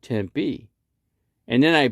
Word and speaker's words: Tempe: because tempe is called tempe and then i pronounced it out for him you know you say you say tempe tempe like p 10 p you know and that's how you say it but he would